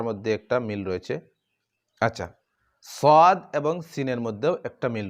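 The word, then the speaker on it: ص: আচ্ছা, সদ এবং সিনের মধ্যেও একটা মিল রয়েছে। সদ এবং সিন, সদের উচ্চারণ করার সময় মুখটি একটু গুল, ঠোঁট একটু গুল করতে হয়। সিন আদায় করতে তা করতে হয় না।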